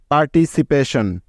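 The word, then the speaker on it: participation: TION এর উচ্চারণ হয় শন। বুঝতে পেরেছ তো তোমরা? তাহলে এই শব্দটার বানানটা কি পেলাম? PAR, পার, TITCIC, PA, পে, TION, শন, পার্টিসিপেশন।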